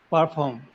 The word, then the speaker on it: perform: Perform. Perform. Okay. So what was happening in the sentence was you were saying par. The par sound was coming. Par form, Yeah.